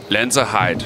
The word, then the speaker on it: Lenzerheide: I would try to pronounce her hometown for you, but I would probably butcher that terribly. Lenzerheide.